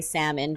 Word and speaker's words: salmon: you not eating Seafood I love that you say salmon thank you yeah not Salmons everyone let the L go please it's okay because